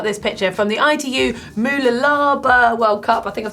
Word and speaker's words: Mooloolaba: We've got this picture from the ITU Moolalaba World Cup. I think I've said it right. I'll get a tongue twisted over that one. Moolalaba World Cup.